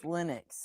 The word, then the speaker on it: Linux: are, then maybe we could talk about the pronunciation. the guy that invented it came out and said it's Linux like so many years later.